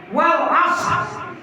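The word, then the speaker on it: والعصر: Wal asr. Ya, kalau ibu saya katakan wal asri gitu kan ya. Wal asr.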